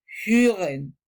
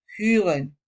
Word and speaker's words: hören: Para pronunciarla correctamente se debe poner la boca como si fuera a vocalizar o, pero dices dices hören, hören.